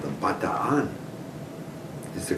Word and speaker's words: Bataan: But when I got over to the Philippines, it was called the Bataan. Is the correct pronunciation. Bataan, same spelling.